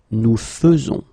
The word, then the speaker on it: faisons: Nous faisons. Okay, it's really fe, fe, fe. Nous faisons. Okay, you see it with E, but then you pronounce it fe.